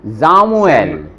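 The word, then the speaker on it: Samuel: आगे, एस वी एस वी समवेल, जामुएल, एस के आगे वो है वोकाल है, तो उसका साउंड बन जाएगा जे, जे, है ना।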